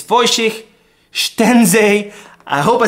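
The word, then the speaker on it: Szczęsny: possible but it's voen I thought it was shes but apparently it's fiken I hope I said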